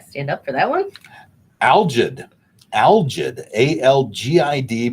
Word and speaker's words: algid: Algid. Algid. A-L-G-I-D, pronounced algid.